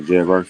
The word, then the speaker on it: Jared Verse: Man, I ain't gonna lie, they got Jared Versa. That's how you say his name? Yeah, Jared Verse.